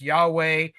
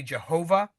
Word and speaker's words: Yahweh: came to the Tetragrammaton, the four-letter name for God, sometimes pronounced Yahweh. Uh, Old fashioned, we'd say Jehovah.